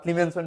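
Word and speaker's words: Clemmensen: Ketone থেকে কিভাবে আবার ক্লিমেনসন বিজারণ। এই বিক্রিয়াটা উচ্চারণটা ক্লিমেন্সন বিজারণ আপনারা যারা ইন্টারমিডি পড়ছিলেন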